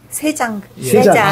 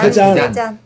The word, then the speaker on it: 세잔: 세잔 그림 세잔 세장 세장 아니고 세우리 발음을 때로 잘 못 알아들어 세잔의 그림을 보면은 산 세잔이 그런 얘기하죠.